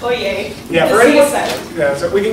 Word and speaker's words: Oyez: surprisingly also sean i know also it is pronounced oye yeah yeah so we can go into a